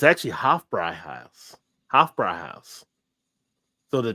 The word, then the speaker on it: Hofbräuhaus: I actually watched a video on it, and it wasn't Hofbrauhaus on how it was pronounced. It was Hofbräuhaus. That's how they were all pronouncing it on the video and stuff over in Germany.